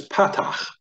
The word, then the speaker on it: patach: First short vowel, which appears in the A-class category, is known as patach. You try saying that. Patach. And it has a ch sound on the end.